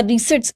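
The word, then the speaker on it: receipts: प्राप्तियां आई रिसिप्ट्स या रिसेट्स इनको बोला जाता है इसमें पी साइलेंट होता है तो रिसेट्स आप इनको बोलते हैं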